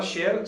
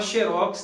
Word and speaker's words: xerox: E também, pessoal, no último item aí, xerox, você pode falar xerox, seria uma paroxítona terminada em x, né? E você pode falar xerox também, não há problema. Então existem essas duas formas aí.